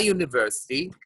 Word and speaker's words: university: Because the U pronounced As a yeah. As a yeah. It's not pronounced as a vowel, actually. It's pronounced as a consonant.